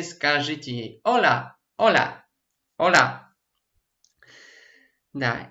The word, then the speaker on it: hola: Особенности произношения мы сегодня не будем изучать, но вы слышите, что она не наша л, не наша л, а между ними л, л.